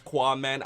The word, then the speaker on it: Qaaman: It's Qaaman. I know the whole QAA thing doesn't make that noise, but what a lot